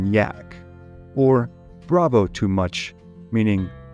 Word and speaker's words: Jack: referred to him as Captain Jack which they pronounced cap Yak or Bravo too much